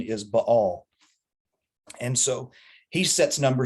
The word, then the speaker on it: Baal: introduce bell worship now technically the the proper pronunciation for this god's name little g is ba all but all but i'm going to call him